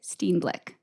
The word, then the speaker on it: Steenblik: Today, we are talking to my friend and fellow choir director, Steenblik.